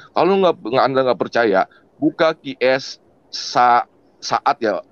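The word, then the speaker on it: Shaad: Kalau Anda nggak percaya, buka QS saat ya. Bacanya apa sih, Pak Kace? S-H-A-A-D. Saat ya. QS saat. Hah? Saat ya? Saat 85. QS saat 85.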